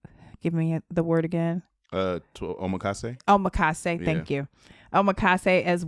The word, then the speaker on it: omakase: I think it's Amasaki or Omakase? Omakase.